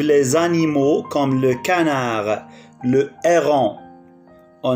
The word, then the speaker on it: héron: Au bord de l'eau vivent les animaux comme le canard, le héron. On ne prononce pas H.